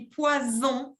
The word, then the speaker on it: poison: Ça s'écrit avec 2 S, parce que si j'écris poison avec un S, c'est prononcé comme una Z, on dit poison, eso significa veneno.